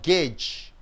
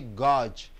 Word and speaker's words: gauge: it is called gauge now you do not say gorge you say gauge he Gorge the weight